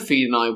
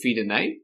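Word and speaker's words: Fidenae: The trap he'd set worked and the men of Fedai were goated into battle. You do know that AE is not pronounced like that, right? Uh, is it Fed?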